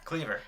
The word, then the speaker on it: Kleaver: Kleaver? Cleaver. Because It's a clever pun.